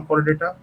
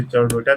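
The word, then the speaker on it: Chordata: नॉन कोर्डेटा है ना, कोर्डेटा कह लीजिए, जो इसे चौडेटा भी कहते हैं। सबके अपनी अपनी प्रोनाउंसिएशन है।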